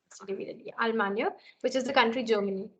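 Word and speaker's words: Allemagne: Almania. That's right. Almania. Okay, and those of you who might mispronounce it as Alemania, please don't.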